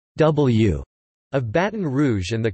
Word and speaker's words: DeBlieux: the liberal state senator j d diblio pronounced w of baton rouge and